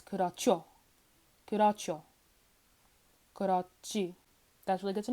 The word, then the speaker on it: 그렇죠: Yeah, if a regular consonant comes after a hiat, it becomes pronounced as a strong consonant. So yeah, this would be pronounced as 그렇죠.